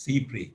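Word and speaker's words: cy-près: to the doctrine of C pre you pronounce it as C pre Cy p s c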